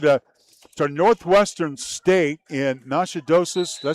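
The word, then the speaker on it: Natchitoches: She she's headed to to Northwestern State in Nashadosis.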